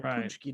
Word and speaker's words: Paczki: But it's punchki is. Do you know how it's spelled? Yeah, it's spelled like Paxkazi. Yeah, Paczki.